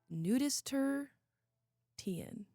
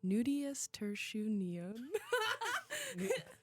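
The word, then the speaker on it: nudiustertian: So, this week our word of the week is, and forgive me if I butcher this, nudist ten. One word. What? Nudius tersu.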